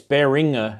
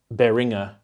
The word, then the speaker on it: Behringer: But yeah, it's Behringer, as in like ring, Behringer. It's apparently the correct way of pronouncing it. Yeah, Behringer.